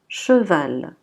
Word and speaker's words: cheval: CH sera toujours, donc dès que vous voyez CH, vous devez la prononcer che. Che. Donc on dira cheval.